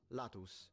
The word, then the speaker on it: latus: place the broad region as opposed to latus with a short a which just means side or flank.